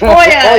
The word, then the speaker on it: Olya: It's Olya!